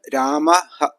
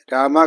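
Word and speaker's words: രാമഃ: ഹ എന്ന് തന്നെ വായിക്കണം ഉദാഹരണത്തിന് രാമഹ എന്ന് രാമ കഴിഞ്ഞിട്ട് രണ്ട് കുത്തിടുകയാണെങ്കിൽ വിസർഗം അവസാനമാണ് വരുന്നത് അപ്പോൾ അത് രാമഹ എന്ന് തന്നെ വായിക്കണം പലരും രാമ രാമ എന്നൊക്കെ വായിക്കാറുണ്ട് അത് ഉച്ചാരണ നിയമം അനുസരിച്ച് അത് ശരിയല്ല ഇനി രണ്ടു പദങ്ങൾ ചേർന്നൊരു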